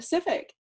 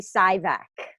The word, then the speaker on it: Sivec: do they normally say it's normally it's always for my first name and the last name is usually sigh back then that make mix